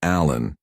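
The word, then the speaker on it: Alan: He pronounced his middle name Allen with the stress on the second syllable.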